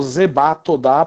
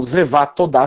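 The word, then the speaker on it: זבח תודה: estudado hebraico, sabe que a gente às vezes escreve B, mas pronuncia V, é o Vet, né? Então, Zevá Todá seria a pronúncia mais correta.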